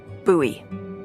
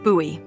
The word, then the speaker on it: Bowie: huge Rusty Bowie knife it's actually pronounced buoy what no it's like the last name like David Bowie different last name buoy are you just messing